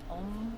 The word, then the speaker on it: Om: That's happy life, happy wife, happy home, happy rhymes with home. Om, which is the crown chakra mudra chant.